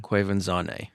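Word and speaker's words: Quvenzhané: Wikipedia it is oh is that the the pronunciation thing quanan yeah okay which is a cool name it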